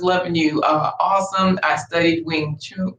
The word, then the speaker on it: Wing Chun: I studied Wing Chun. How do you say that? Wing Chun.